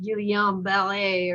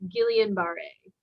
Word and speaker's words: Guillain-Barré: And so it would in French it's like pronounced guillain-barré or something like that. Okay. But in American it's guillain-barré.